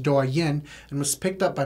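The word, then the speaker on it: Douyin: my Chinese app that we believe is pronounced durian and was picked up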